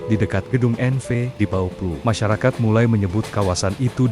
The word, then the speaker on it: Bouwploeg: Masalahnya bauh bukan kata yang mudah diucapkan lidah Betawi. Pengucapan Belandanya pun cukup rumit. Lama-kelamaan kata bapluh berubah bunyi menjadi Boblo dan nama itu akhirnya melekat. Anjir orang ngakunya orang Boblo Bauplo bukan Boblo bahkan jauh lebih terkenal daripada nama aslinya.